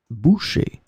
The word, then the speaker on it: bouchée: In this lesson, we will see together two words that are written differently but pronounced the same way. Boucher, boucher.